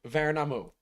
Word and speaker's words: Värnamo: Värnamo. Va- Värnamo. Värnamo. Yeah, that's close enough. That is not how I would have pronounced it.